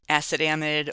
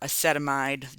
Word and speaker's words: acetamide: Acetamide or acetamide, different ways that you can pronounce that.